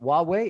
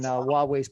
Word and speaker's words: Huawei: and you corrected my pronunciation of it but huawei is that correct pronunciation of it that is investing in potentially